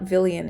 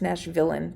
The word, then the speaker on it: Nashville Villain: It's not Villian, it's Nashville Villain, but I I know I said it wrong the whole time.